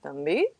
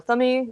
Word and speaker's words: Thumby: So we are doing Thumby today, or Thummy, depending on how you choose to pronounce it.